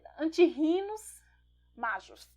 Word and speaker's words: Antirrhinum majus: Antirrhinum majus, né? Normalmente H é mudo, então, em latim, Antirrhinus majus. Deve ser assim a pronúncia.